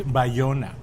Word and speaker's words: Bayona: So the Y no, is a J. in Spanish it's Bayona. Oh.